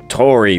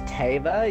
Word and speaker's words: Tava: that way sou T Tori by the way it's Tava you're pronouncing it wrong oh sorry Tori my